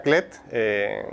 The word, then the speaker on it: Klett: Entonces, hoy agradecemos a Patricia Clet, que se escribe K-L-E-T-T, bueno, aparecerá el rótulo para que